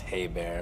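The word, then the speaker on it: Hebert: and by the way my last name is pronounced hey bear if you care yes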